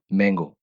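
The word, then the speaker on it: Mango: मांगो, मैंगो, आम जो होता है उसको, आपको पता ही है, आपने पहले लेसन्स में पढ़ा हुआ है, जर्मन जुबान में ए को आ बोलते हैं, इसलिए इसको प्रोनाउंस करेंगे मांगो।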